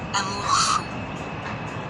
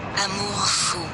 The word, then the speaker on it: amour fou: But how do you pronounce that? So check this out. Amour fou. Again. Amour fou.